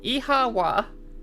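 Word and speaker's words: oíche mhaith: like another child he Cassio my the Irish for good night one dialect would pronounce it as eawa what don't understand how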